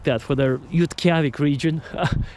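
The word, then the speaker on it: Utqiagvik: Now you can Google that little town, Yutkavik. That's how they say it. Yutkavik.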